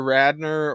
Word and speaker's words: Radnar: old they are because people who remember SNL hear Radner or see the spelling and remember Gilda Radner and so it always